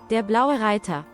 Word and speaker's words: Der Blaue Reiter: So, how's it pronounced? Der blaue Reiter.